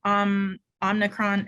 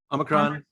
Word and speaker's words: Omicron: So there's an article about what Omnicron, is that how you say it? Omicron.